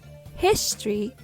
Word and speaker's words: history: difference in stress placement history has the stress on his historical has the stress